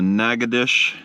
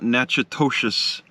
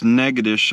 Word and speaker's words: Natchitoches: was placed in the naga dish that's how you say it not nachitosis it's negadish i learned this from an